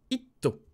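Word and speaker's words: ヒット: Lorsqu'on a une syllabe fermée en T, on va utiliser le son, enfin la syllabe to. Exemple, un hit musical, tu vois, la musique, un hit, on va l'écrire itto. Itto.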